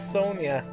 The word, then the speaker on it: Sonja: to be Red Sonja Sanja pretty sure it's Sonia you know you'd think I've never heard yes but I've heard people say her name and it's always Sonia she fought the J she